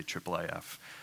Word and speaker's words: IIIF: of words and syllables we almost always say triple AF and so what that